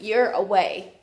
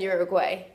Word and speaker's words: Uruguay: you agree a kid how do they say it it sounds like you're away more so than uruguay getting it but it's it's interesting they don't actually like say a hard g and so i'm saying